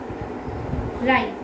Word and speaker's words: rhyme: Next, go to rhyme. R-H-Y-M-E. It has R before it. So it goes silent. Rhyme.